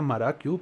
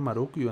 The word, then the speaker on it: Marukyu: Creo que la gente lo pronuncia Marakyu, pero pone Marukyu, entonces es como raro.